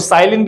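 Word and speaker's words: Zahlen: हम क्यों रिप्रेजेंट करते हैं, क्योंकि जेड एक जर्मन वर्ड है, ज़हलीन से लिया गया है, जिसको साइलिन भी पढ़ते हैं हम, प्रोनाउंसिएशन अगर हम इसकी देखेंगे साइलिन है।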